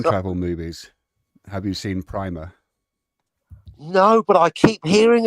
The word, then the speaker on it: Primer: Have you seen Primer? No, but I keep hearing about it. Apparently, it's meant to be pronounced Primmer, but what do I know?